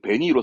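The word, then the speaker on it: 紅色: 발음은 좀 어렵습니다. 생소하죠. 베니이로. 예, 붉은색은 베니이로 쓰는데 이걸 어디다 쓰게 되냐 그러면 입에다가 붉은색을 바른 거.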